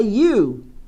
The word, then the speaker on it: ewe: Então a palavra ovelha, isso aqui é ovelha, ela começa com este som. E eu falo a ewe. Mas tio Rê, parece a fonética do pronome você.